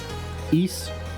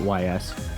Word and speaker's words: Ys: currently has you've got east or ys i think it is pronounced east but i always call it ys um you have those